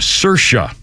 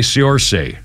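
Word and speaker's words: Saoirse: the 2019 Little Women remake her name is pronounced cersa like inertia well I'm going to say Sor instead of cersa because I don't like it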